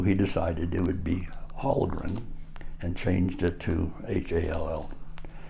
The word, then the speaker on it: Hallgren: My dad's name was Hallgren, Hellgren, and he didn't like that Hell, even though it had a double umlaut on the top of the E, which is a Swedish way of pronouncing and saying things.